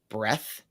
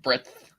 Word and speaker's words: breadth: with enough, let's say, breath breadth of the Like, how do you say that? Breadth? Breadth. Breadth with the D.